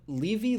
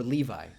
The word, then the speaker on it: Levy: Levy. Levy or Levi? Levy. Levy.